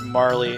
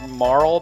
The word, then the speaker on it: Marle: significant later sure probs I've heard people pronounce it Marl but I think Marley is prettier and probably correct so hell yeah